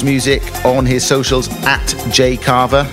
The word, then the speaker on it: Jayh Cava: Keep up to date with Jay CAVA's music on his socials at Jay CAVA. That's spelled J-A-Y-H-C-A-V-A.